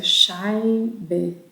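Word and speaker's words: Scheibe: É, eu fui perguntar quantos, quantas fatias de queijo o hóspede queria, só que a palavra fatia em alemão, que e se pronuncia shab é muito parecida com a palavra shai de um d que significa vagina, que é o, né?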